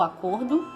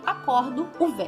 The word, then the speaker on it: acordo: O acordo, e acordo, do verbo acordar. Vocês podem ver como eu falo diferente, né? Acordo, acordo. É diferente a pronúncia, mas ali escrito tá igualzinho. Outro exemplo é colher, substantivo, né?